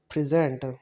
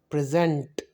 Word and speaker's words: present: Same like noun, present. When we are gonna speak the word present, we will give the stress on the first syllable. Okay, now when we gonna pronounce the word as a verb, so we will pronounce it present, rebel, rebel.